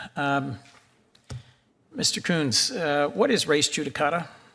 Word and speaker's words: Coons: um if I might coons uh is it pronounced the same way mine is coons yes senator my family's name